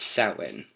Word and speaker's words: Samhain: of the year samhain spelled samhain but it's pronounced satwin they believed that there was a misty veil